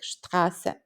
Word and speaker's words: Straße: Visualize workers going on a strike in the street. That's how you pronounce ST at the start of words like Straße.